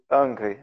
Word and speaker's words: Ingres: Ela é do Angry, né? Se escreve Ingres, para quem quiser procurar depois.